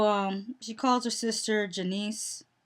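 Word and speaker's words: Junice: she calls her sister janiece they say janiece but it's it's spelled j-u-n-i-c-e so i would think it would be junies but they're saying janice anyways um she called says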